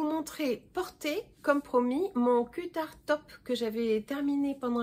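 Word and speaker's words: Qutar: Donc le cutard top qui se prononce cutard mais qui s'écrit Q-U-U-T-A-R, cutard, est un design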